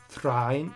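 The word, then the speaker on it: Thráin: sheets as og kills three or is it thrine i mean i do i do like saying dane and train but technically i think it should be thrine thrine oh tolkien you big old linguist yeah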